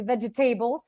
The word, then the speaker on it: vegetables: The table will be stressed, and also comfortable, and for some reason, this is where I find the issue, because when you stress table, you basically lose the veg and the comfort, and it doesn't make any sense.